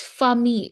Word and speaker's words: famille: Double L is pronounced Yeah. usually I, like fille, daughter, la fille, Fear. le billet. Like in when we pronounce family, it's famille. Like the spelling is F-I-M. Exactly. Famille, fille, billet.